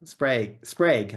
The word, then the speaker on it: Sprague: And I'm like, well, we just did on the trailhead, or do you pronounce it Sprague or Sprag? Sprague. I think I say Yeah, that's Sprague.